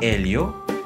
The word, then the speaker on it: Helio: 분명히 프랑스어와 스페인어에는 H에 해당되는 철자가 있음에도 발음되지 않고 아예 이탈리아에서는 H라는 철자가 삭제되기까지 했죠.